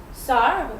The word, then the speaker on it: sœur: Sœur, which is sister, or bœuf, which is beef.